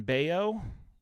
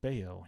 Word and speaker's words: Bello: Oh, Brian Bayo. It says Bello, but it's pronounced Bayo. He's a real good pitcher.